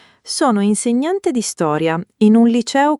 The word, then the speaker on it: insegnante: Professione impiegato impiegato non impiegato impiegato insegnante insegnante. Non insegnante.